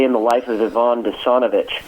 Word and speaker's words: Denisovich: the life of yvonne desonovich or denisovich is the way that they pronounce it in russian but the reason i